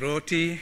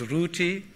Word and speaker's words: roti: ago in this city no one says roti everyone says rooty all right and that is the way a Bengali slave would have pronounced it the raising of the